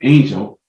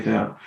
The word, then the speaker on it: Anjel: And it's not Anjel, it's Angel. And I keep saying Anjel because I want to say it in the Caribbean way. I was just about to say that. It's only like Caribbean people that say it like a certain way.